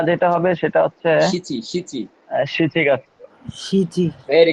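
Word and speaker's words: 七月: শিচিগাৎসু।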